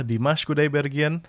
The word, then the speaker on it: Dimash Kudaibergen: Ya ini tulisannya bahasa Rusia tapi dibacanya adalah Dimas Kudaibergen Unforgettable Day.